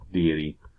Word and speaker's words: deity: birth death victory etc a deity is a god deit why that's how it's pronounced that is another word